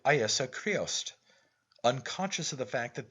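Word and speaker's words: Íosa Críost: name of jesus christ in his native tongue pronounces it iesa creost unconscious of the fact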